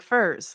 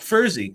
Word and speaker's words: Furze: Yeah, he said Furze, one syllable, like Furze. Furze. Not Furzy. Not Furzy.